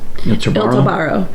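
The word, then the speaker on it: Il tabarro: How do you pronounce it? Il Tobaro.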